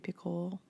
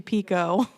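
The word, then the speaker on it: Picoult: things by jod picle see that's not how you say her name she just came on Tik Tok recently and everyone's been saying her name is picle for like 20 years and it's actually Pico Pico Jody Pico okay I think was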